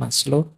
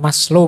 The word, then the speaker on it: Maslow: Jadi moralitas itu kalau di Maslow, Abraham Maslow, ini bukan Maslow membacanya. Maslow itu nama, jangan dibaca Mas itu ya Mas, low itu rendah, jadi Mas yang kelas rendah. Rendah. Maslow itu lengkap.